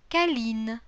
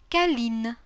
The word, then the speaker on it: câline: Câlin, câline. Coquin, coquine. При этом непроизносимый конечный звук «т» становится произносимым. Petit, petite. А носовой – не носовым. Câlin, câline.